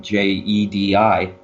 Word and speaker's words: Djedi: owned the trademark on J EDI the actual spelling and it comes from Egyptian is DJ EDI Jedi its Jedi I guess how they pronounce it the meaning of